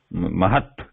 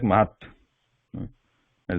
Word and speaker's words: mahat: Mahat. So it sounds like mahat at the end. Mahat, not mahata. So if you don't put that slant line at the end, then it is pronounced mahata.